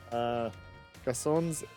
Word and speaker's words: garçon: So for reference in France, we say Garçon. yes, with a sound S.